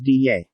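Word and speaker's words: 袋: Butterfly to Hu Dai, ultimatum to Tong Dai, spy to Jian Dai, UFO, flying saucer, to Fei Dai, Dai is pronounced as Diye.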